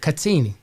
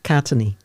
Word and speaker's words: Katene: Well, I say Katene. Katene. What do you say? Katene. Yeah, Katene.